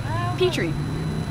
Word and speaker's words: Pitre: So it's like the dish, Pitre.